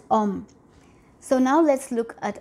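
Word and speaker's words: homme: And once again, an example of a letter begin, I'm sorry, example of a word beginning with the letter H mute. And as you can see, pronounced as om.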